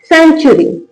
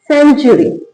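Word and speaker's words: century: यू साथ में है तो उ का उच्चारण भी साथ में आएगा। यानी कि चू का साउंड आएगा।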